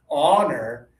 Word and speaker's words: honor: So you can feel the difference between the pronunciation. This one is, again, honor.